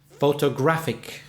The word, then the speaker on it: photographic: did photographer photographer and the adjective photographic photograph sick four syllables but this time the third syllable is stressed did a dad photographic so listen again to